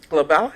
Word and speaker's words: Glabella: And am I saying it right, Glabella? Glabella, yes.